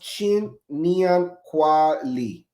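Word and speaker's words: 新年快乐: saying Ganji Hei Fat Choi in Cantonese or Xin Nian Kwao Li, pronounced Chin Nian Kwao Li in Mandarin.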